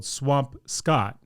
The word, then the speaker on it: Swampscott: It's spelled Swampscott, but as I've talked about on this podcast before, in Massachusetts, nothing sounds like correctly the way it looks.